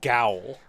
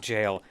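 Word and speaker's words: gaol: saying like that's pronounced jail you lie you're a liar is what you are mr liar that is not pronounced jail yeah no that's how jail used to be spelled and then everyone else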